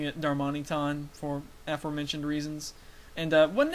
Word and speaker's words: Darmanitan: And it may be pronounced Darmanitan, as it's supposed to be based on a Dharma doll. But, you know, I'm personally going to keep pronouncing it Darmanitan for aforementioned reasons.